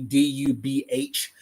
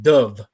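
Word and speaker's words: Dubh: I'm sure you've seen it too, D-U-B-H. That is not dub. That is pronounced dove, right? Dove, like as in a V, dove. Almost like a bird, dove, right?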